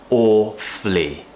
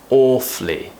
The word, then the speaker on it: awfully: awfully sorry now again there are different ways of pronouncing the word awfully some people will not pronounce the schwa sound like I did just then and it would be awfully awfully or you could say